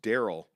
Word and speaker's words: Darrell: go darrell king says not sure why my parents spelled my name like that but it's pronounced daryl keep it real love